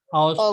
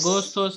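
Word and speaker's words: Ağustos: तेमुज, उसके बाद अगस्त, औस्तोस। अगस्टोस, ऑटोस, अगोस्तोस नहीं, औस्तोस। ऑटोस, silent.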